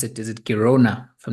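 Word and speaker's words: Girona: and that place I don't know how to pronounce it is it kirona if I'm not mistaken Kona yes is between yes it's between Barcelona and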